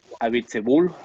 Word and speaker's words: Abiteboul: I always struggle to pronounce this. Abiteboul.